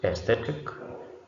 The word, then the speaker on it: aesthetic: Then the second word is aesthetic. Aesthetic starts with A, but we don't pronounce the A.